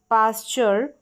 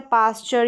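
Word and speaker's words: pasture: There was अ पास्चर। पास्चर का मतलब होता है पास्चर या पैस्चर, दोनों तरीके से इसको प्रोनाउंस किया जाता है।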